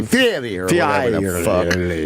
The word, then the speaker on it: Fieri: Guy Fieri. No, you got to say Fieri or whatever the fuck.